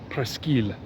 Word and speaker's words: Presqu'île: This is the main square in Lyon on the peninsula, or that has it pronounced the Presqu'île.